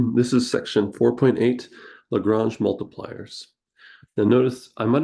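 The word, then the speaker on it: Lagrange: a Frenchman and so we pronounce it the same way he would have pronounced his name lrange this can be difficult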